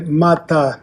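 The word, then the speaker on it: माता: En sánscrito se escribe mata, es la ma labial larga, ma. Y la ta dental larga, mata.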